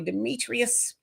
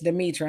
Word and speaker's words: Demetra: say my name right they call me Demetrius and it's Demetra and I answer I